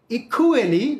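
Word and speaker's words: equally: Love and friendship are ইকুয়ালি, ইকুয়ালি মানে আমরা যেটাকে ইকুয়ালি বলি, এটা সঠিক উচ্চারণ হবে ই খু খু খু, কুয়ের জায়গায় খু, ইকুয়ালি।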